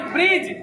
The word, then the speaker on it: bridge: तो ब्रिज जो है वो ब का उच्चारण जो है एकदम हल्का सा हो रहा है, नाम मत का ब्रिज तुरंत आ रहा है रो, अरे, और यहाँ पर डी फिर साइलेंट हो गया, है ना?